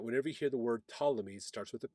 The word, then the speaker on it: Ptolemy: you hear the word Ptolemy starts with a p p t o l e m y Ptolemy the p is silent of course that's Greek people are running Egypt